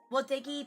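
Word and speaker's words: Wotagei: Which is the Wotegi panel. That's how you pronounce it.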